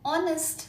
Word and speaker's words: honest: ho where as an honest man honest this is this starts with a vowel sound Oh an honest man